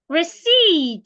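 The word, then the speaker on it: receipt: sound listen Wednesday it's not wedness day Wednesday receed not rece receip muscle not muscle muscle sandwich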